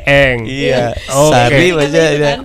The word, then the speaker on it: Ang: Tulisannya Ang, dibacanya Eng.